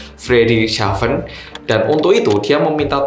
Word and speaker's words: Friedrichshafen: Ya, bacanya bukan Friedrichshafen, Friedrichshafen.